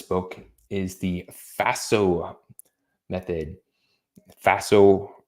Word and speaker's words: FASO: is the Faso method Faso rhymes with lasso and it's Faso and it really helps